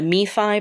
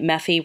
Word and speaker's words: MeFi: I've always been a MeFi, but I heard someone calling it Mephi, rhyming with that kid from Family Circus, and I think that's funny and charming, but wrong.